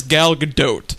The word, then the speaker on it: Gal Gadot: been a rough Mike we had been mispronouncing her name along with the rest of the internet incorrectly a long long time but it is gal gadot so your thoughts on